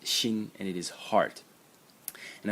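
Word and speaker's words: 心: And the semantic element in the character is this thing over here, which is pronounced xin, and it is heart.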